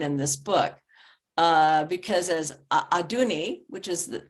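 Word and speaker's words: Adunni: is very important in this book, because as Aduni, which is how to say her name, the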